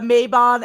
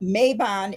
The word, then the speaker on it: Mabon: It was Mabon as in Mabon.